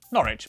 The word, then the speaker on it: Norwich: after the final syllable is silent. Norwich, Berwick, Southwark.